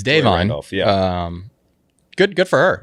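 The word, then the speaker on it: Da'Vine: apparently is Davon yeah we've been saying Davon it's Davon um good good for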